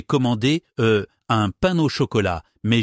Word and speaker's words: chocolat: J'étais à une boulangerie à Lyon et j'ai tellement stressé que j'ai commander euh un pain au chocolat, mais j'ai dit pain au chocolaté avec le thé prononcé.